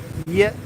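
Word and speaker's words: Việt: dialect or slang, is to change the pronunciation of V. So like, for example, Ting Viet, which is Vietnamese language, to Yet. So it's like Ting Yet. The V becomes a Y in Saigon.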